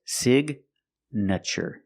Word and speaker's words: signature: With signature, the gn is in the middle. And we pronounce the G like a hard G sound. So it's signature signature. The I makes a short sound like this is s signature.